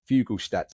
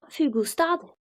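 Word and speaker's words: Fuglestad: Emmy, can you help me with my Norwegian pronunciation, please? Fugelstad. One more time. Fugelstad. If it was English, it'd be Fugelstad. Fugelstad.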